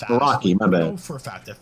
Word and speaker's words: Meraki: Like, you'll get that Murukai stuff if you want to use that. That's going to be an extra cost. But Shaw also provides Pronounced Meraki.